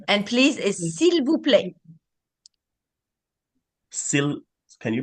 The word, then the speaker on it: s'il vous plaît: Merci et s'il vous plaît. The Okay. people, the way it's spelled, and when you slow it down, you hear the L, but mostly when people say it, you just hear s'il vous plaît.